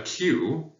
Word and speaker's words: queue: A queue is a word that refers to a line of people. It is the only English word that is pronounced the same way when you remove the last four letters.